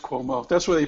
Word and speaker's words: Cuomo: cuomo although i've heard some people call him kumo yeah it's cuomo that's where they pronounce it in new york believe me i